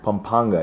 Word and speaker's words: Pampanga: Pampanga.